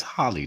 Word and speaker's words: Holly: And Holy Ass Thomas. That's Holly, dog. It's literally, there's no woman named Holy. It's literally a Holly.